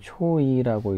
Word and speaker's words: Choi: 최는 CHOI로 쓰기 때문에 초이라고 읽죠. 외국 사람들은 초이라고 읽어요.